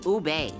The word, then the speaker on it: ube: a kid all the time Wow what's it's ube what's that like you know it's like a